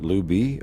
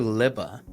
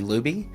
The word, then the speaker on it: Lubbe: you can call me lubby or or or honestly I'll respond to I've been called a lot of things so um liba is the technical pronunciation liba mhm wonderful uh I'm